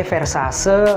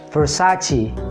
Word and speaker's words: Versace: kita salah sebut Nah kita sering kali sebut brand ini sebagai versase versase atau Versace bahkan orang Amerika pun menyebut brand ini sebagai versaceci Versace tapi sebenarnya pengucapannya yang benar adalah Versace Versace Versace Versace ya itali-itali gitu Versace Versace Oke